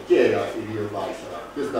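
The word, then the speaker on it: Yrjö Väisälä: Allora, questa persona, la cui pronuncia è Irio Baisara.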